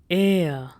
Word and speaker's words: R: R is pronounced as air. Air. So most of the time it happens that R is silent in German.